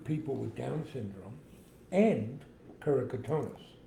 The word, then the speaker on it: keratoconus: So John has a condition called keratoconus. Gorgeous. I don't know why I'm mispronouncing it.